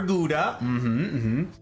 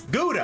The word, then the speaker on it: Gouda: I are Gouda. Except... I learned that was Gouda when I lived in Germany, and I'm like, what? That's dumb. It's Gouda. And they're like, listen, where does Gouda come from?